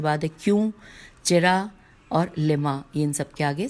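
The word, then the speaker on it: لِم: مطلب حل مطلب لما، بس یہی ہے لم، بلکہ لما بھی نہیں ہے، لام کے نیچے زیر ہے اور پھر میم.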